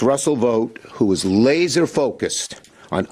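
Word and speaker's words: Vought: have called him Russell VA I would have pronounced it differently but it's vote well will will have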